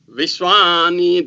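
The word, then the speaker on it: विश्व: So there are in Vishwa there are 2 vas, but the first va is pronounced as ba, while the second va is pronounced as va. Both are bilabial.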